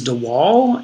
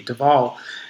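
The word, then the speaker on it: de Waal: jane goodall for most of my life i pronounced his name uh franz dewall and um just in looking into his his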